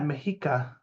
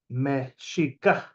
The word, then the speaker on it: Mexicah: And so it's actually not Mexica like this. It's actually Mexicah. Mexicah. There's a glottal stop, which literally everybody ignores. So it's not even Mexica, it's Mexica. And then so he's wrong about that. It's not Mexica.